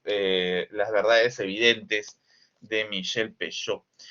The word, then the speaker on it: Pêcheux: en la lectura de Michel Peyot, ¿no? O como también se le pronuncia Michel Pechet, ¿no? Yo prefiero Peyot, porque así más o menos me motiva la pronunciación en el francés.